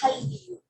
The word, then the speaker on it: Hallyu: Entonces se pronuncia de la misma forma Hallyu, aunque se escribe Han-Ryu, la pronunciación es Hallyu.